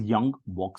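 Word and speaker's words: Ljung-Box: which is called as young box statistic it's pronounced as young block statistic the young box statistic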